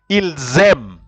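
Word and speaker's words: ils aiment: plurala or you love ilzem ilzem so you will notice that ILS you join with M but e n t is not pronounced e-n-t the verb you see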